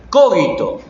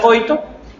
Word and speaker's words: cogito: ¿Cómo se pronuncia? C-O-G-I-T-O, cogito. O cogito, o como te salga. Mientras no te salga coito.